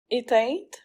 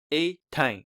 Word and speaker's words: éteint: The word is spelled E, acute accent, T-E-I-N, but many learners pronounce it as if it's spelled I-E-N, as in the name Etienne, Etienne, instead of éteint. The correct pronunciation can be approximated as éteint.